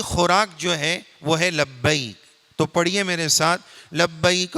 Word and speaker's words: لبیک: بعض لوگ بولتے ہیں لبیک, یہ غلط ہے. غلط کیا ہے, صحیح کیا ہے اس کو سنیے. لبیک غلط ہے, صحیح ہے لبیک.